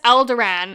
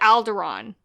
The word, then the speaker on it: Alderaan: planet called Alderaan yeah he says El Duran and then he switches to Alderaan yeah it's all hard